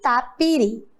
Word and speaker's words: tapiri: Tapiri. Qual é o som mais forte? Uri. Muito bem. Isso mesmo. A sílaba mais forte agora é a última.